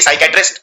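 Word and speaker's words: psychiatrist: Exam में आती है, क्योंकि इसमें पी साइलेंट होता है, क्योंकि साइकेट्रिस्ट जब हम बोलते हैं तो साई, पी नहीं, पी का उच्चारण नहीं किया जाता, तो एक गलती तो ये हो जाती है।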